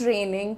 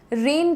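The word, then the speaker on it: rain: एक तो बच्चे का प्रोनाउंसिएशन रेन की जगह रन हो जाता है। यह मैंने अभी रिसेंटली जाना है। रन नहीं होता है। रेन ए रेन रेन रेनिंग cats and dogs.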